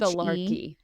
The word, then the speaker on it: thelarche: How do you spell it? It's Thelarchy.